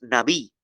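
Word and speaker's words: נביא: Los profetas ahí, la palabra profeta en el hebreo es Naví. Naví. Se escribe N-A-B larga o también B chica. B chica y latina, Naví.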